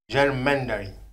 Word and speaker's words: gerrymandering: Fui buscar a pronúncia em inglês, que é gerrymandering.